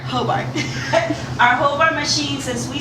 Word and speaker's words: Hobart: How do I pronounce it? Hobart. Hobart.